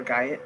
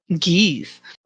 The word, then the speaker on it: guise: Oh, is he under a guise? Or guy? How do you say that word? Geese. Yes, that.